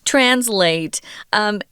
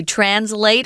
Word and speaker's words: translate: If you look it up in the dictionary, there are two pronunciations. You can say translate or translate, which is the verb form. They're both acceptable. Most Americans just say translate.